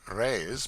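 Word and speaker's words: réis: The Portuguese pennies or rays, pronounced rays, are prodigious.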